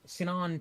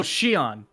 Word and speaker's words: Shion: a child you are liking that to when cinon touched is that how you pronounce it uh who the the zeno saga main character oh shion shion yes you compared noah's time stopping to